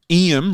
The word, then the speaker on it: Iam: there is currently a guy called Iam, like William, but it's just Iam.